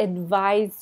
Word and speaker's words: advise: thing it's a noun advise is a verb notice the Z sound advised advice I'd like to advise you to do this